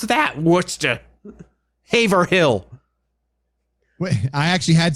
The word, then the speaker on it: Worcester: city whisper like and i said yeah it's like worcestershire sauce like that's how you pronounce it and she freaked out on the phone going oh my god i'm gonna have to call my girlfriend up and tell her apparently they call it we're chester sire sauce yeah that's